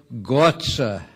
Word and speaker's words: Gatze: pronounce his first name he said i'm frisian and in frisian we say gots ax he later told me that in frisian they say is letting god he went on to